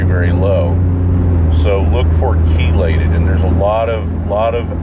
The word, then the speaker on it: chelated: If you can get the trace mineral when it's chelated, that's how it's pronounced. It's chelated.